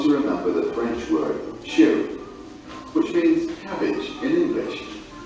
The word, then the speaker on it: chou: For example, let's say you want to remember the French word chou, which means cabbage in English. Chou is pronounced like shoe in English.